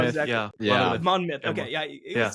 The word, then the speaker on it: Monmouth: And is it Monmouth? I can't remember how exactly. Yeah. Monmouth.